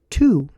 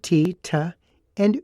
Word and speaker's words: to: adverb t o o they're all pronounced the same tu the hard t and ooh not ta now if i say